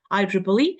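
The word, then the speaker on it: IEEE: this triple triple E triple a triple whatever I Triple E and we have another word template here also frequently mispronounced word template then we have the uh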